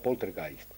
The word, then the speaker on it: Poltergeist: de los espíritus burlones porter gays es una palabra que viene del alemán en realidad se pronunciaría potter gais y viene del alemán